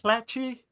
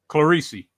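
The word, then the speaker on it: Clerici: Is it Clatchy? Hold on. It's uh it's G Jen Franco Claricei. Claresi is I always got I always call it Clatchy for some reason.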